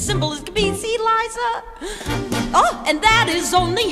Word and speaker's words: Liza: It's Liza with a Z, not Lisa with an S, cause Lisa with an S goes snods. It's Z instead of S, Lie instead of Lee.